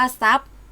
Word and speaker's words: ทรัพย์: ตัว อื่น นะ คะ รูป ทร ออก เสียง ซ ออ เช่น ทรัพย์ อ่าน ว่า ทรัพย์ ส่ง อ่าน ว่า ส่ง